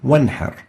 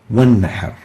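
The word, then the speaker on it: وانحر: Nun Sakinah followed by Ain with a Kasra, pronounced clearly Min Ibadihi. Next example, Wanhar. In the same word, we have a Nun Sakinah followed by a Ha with a Fatha, and we pronounce it clearly Wanhar.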